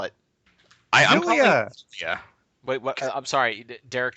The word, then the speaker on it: Xillia: It bugs me so much that Xillia in English should be pronounced Zilia. Yep. But the phonetic Japanese on the box is Ekushiria or Exilia, and that bugs me so much.